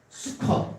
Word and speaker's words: 수콧: 초막이라는 말은 한번 따라볼까요? 수컷. 네, 암컷, 수컷 비슷한 발음이니까 수컷.